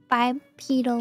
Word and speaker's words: bipedal: I should do the bipedal one. Oh, bipedal, that's how you say it. Bipedal, I'm like, pedal like a bicycle.